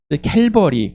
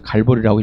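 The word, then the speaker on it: Calvary: 캘버리 그래서 우리 말로는 그대로 갈발이라고 하는 거 좀 그래서 갈보리라고 읽었는가 봅니다. 그대로 읽으면 갈바리가 될 건데 갈보리로 어 이렇게 읽었는 것 같습니다.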